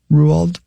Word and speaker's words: Roald: Roald. Isn't that how you say it? Yeah. Sure is.